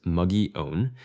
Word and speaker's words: Mogollon: Much of it burned high on the Mogollon Rim, pronounced muggy-own, and inside the west fork of Oak Creek.